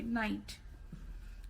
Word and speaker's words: night: GH का कोई sound नहीं है. Okay, in the same way, night.